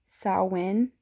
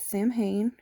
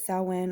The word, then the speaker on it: Samhain: um the way to actually pronounce it is sauwen it is spelled s a m h a i n some people pronounce it as samhain which is fine if you do but the